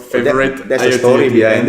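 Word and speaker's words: Favoriot: Don't pronounce with the spelling. Forget about the spelling. Just pronounce it. But the spelling is quite cool because it ends with the IoT. So that's why it's called Favorite.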